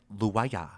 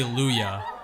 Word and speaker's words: Louyah: ask like siri to say luya it's like luaya oh really that's interesting but yeah so i always say i always say luyah not yeah like is that a different is